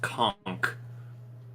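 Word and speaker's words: conch: that really upsets me apparently it's pronounced conk a conk shell that really upsets me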